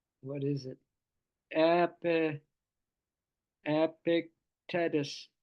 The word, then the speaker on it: Epictetus: Epi, Epictetus, Epictetus. Epic, like the word epic, and then Tetus. That's how you say it.